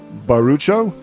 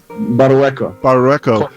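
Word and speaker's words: Barrueco: These are all transcribed by, let me see if I say his name right, by Manuel Barucho. Did I say that right? Barueco.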